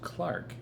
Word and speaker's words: clerk: the clerk I remembered it's pronounced Clark in British be here without fail